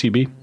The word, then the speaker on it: HEB: How do you pronounce HEB? Heb. Yeah. And it was like it's I can see that. HEB.